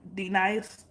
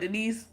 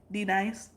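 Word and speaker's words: D-Nice: when he be like, D nice, say it correctly, D nice, I mean, he was like, Denise, she was like, Denise, he was like, say it correctly, D nice.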